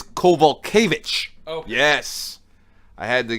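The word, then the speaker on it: Kowalkiewicz: it's okay sorry nope it's not caval kibbutz it's cobalt kovitch oh yes I had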